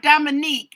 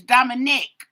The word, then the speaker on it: Dominic: It's not Dominique, it's Dominic. Dominique is usually a girl's name.